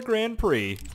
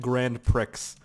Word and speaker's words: Grand Prix: Or a Grand Prix. Yeah, sure. I like calling it Grand Pricks because people get upset like, "No, that's not how you say it.